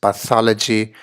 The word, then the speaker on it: pathology: the screen here again four syllables the emphasis coming here on the second syllable to sound like this pathology in the manner of